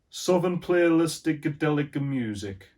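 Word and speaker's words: Southernplayalisticadillacmuzik: to say it fluently southern playlistic delica music yeah you have to say it like an italian something to play a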